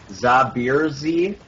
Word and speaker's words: Zaber Z: We've got Sauron on Kog'Maw, Nyx on Kayle, Zaber Z, actually, which we've been told is pronounced Zabir Z on Evelyn there yet